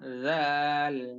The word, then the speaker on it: ذال: হ্যাঁ, উচ্চারণ পাতলা হবে, তবে জিহ্বা বাহিরে বের হবে। জিহ্বার আগা সামনের উপরের দুই দাঁতের আগার সঙ্গে যুক্ত হবে।